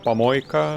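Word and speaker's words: помойка: guy his nickname is can be pronounced in Russian as pamoica which means the trash can it is spelled the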